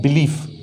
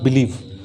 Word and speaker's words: belief: बिलीफ, इट्स नॉट बिलीव।